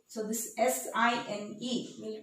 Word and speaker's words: sin: So this SINE will pronounce as sine of angle A. Instead of writing E, we'll just skip this and we'll write in short SIN, but we'll pronounce it as sine.